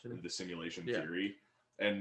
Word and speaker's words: SIMYOULATION: Simulation, and it is spelled SIMYOULATION.